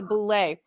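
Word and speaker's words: Boulé: he is so the host there pronounced it wrong Jonathan OD was correct it is actually the Boule and there has been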